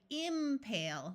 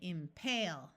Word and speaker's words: impale: Did you notice that in all of these words, the second syllable is accented? We don't say impale, we say impale. We don't say incite, we say incite.